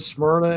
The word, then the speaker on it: Smyrna: Is Greece being convoyed to Smyrna?